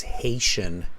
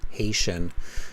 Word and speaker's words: Haitian: tricky to pronounce it's Haitian Haitian so it's Haiti and then Haitian yeah CH the pronunciation has to change there it's a tricky one